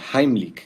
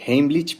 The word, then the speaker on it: Heimlich: Que estén muy bien, vamos a ver en este video la maniobra de Heimlich, que por cierto, esa es la pronunciación correcta porque está en alemán, la mayoría dice Heimlich, pero bueno, se entiende de qué se trata.